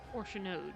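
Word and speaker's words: Fourchenault: Orchanode, that's how you say his name.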